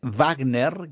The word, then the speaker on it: Wagner: porque es justamente es eh Wagner, que aprendimos recientemente de Guillermo que así se pronuncia en alemán, el famoso ah músico